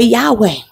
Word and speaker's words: Yahweh: Some people pronounce it Yahuwah. Some say Yahweh.